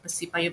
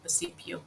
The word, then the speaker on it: Percipio: Some people will just mention it Percipio, but how to pronounce it is Percipio.